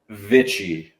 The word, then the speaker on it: Vicich: but you both started it with a V, which is the most important thing when pronouncing my last name. My last name, properly pronounced, is Vicich.